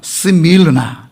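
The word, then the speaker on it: Σμύρνα: 자, 그러면 이 관계가 뭐냐면은 자, 원래 헬라어의 원 지명은 스밀르나 이렇게 발음돼요.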